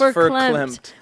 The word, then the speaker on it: verklempt: Well, it says pronounced verklempt.